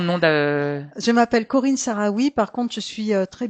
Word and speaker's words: Sahraoui: Alors, comme le Sahara. S a h r a O u I.